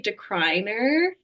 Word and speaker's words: DeCruyenaere: that would be the phonetic way you would say it, but we like our anglicized version, we just say decliner.